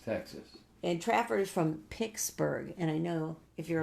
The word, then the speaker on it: Pittsburgh: And Trapper is from Pixsburg. And I know if you're a longtime resident, it's not Pittsburgh, it's Pixsburg. Like a guitar pick.